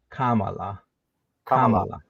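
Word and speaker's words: Kamala: think she says good you're supposed to say Kama and then La Kamal La yeah okay so it's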